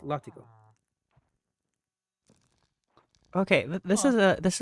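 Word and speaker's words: látigo: Uh compare uh compare Spanish uh latigo uh whip pronounced latigo.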